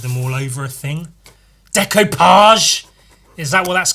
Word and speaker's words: decoupage: Decoupage, is that what that's called? Decoupage. I think it's spelled decoupage, which is stupid, but that's how words work.